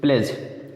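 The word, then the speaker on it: pledge: अब नीचे देखिए प्लेज, प्लेज में क्या है, जी के पहले डी आया है तो डी नहीं बोला जाएगा, प्लेज नहीं बोलते हैं, प्लेज, प्लेज मतलब प्रतिज्ञा।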